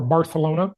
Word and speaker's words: Barcelona: was this giant protest in Barcelona or barcalona if you want to say it right a week ago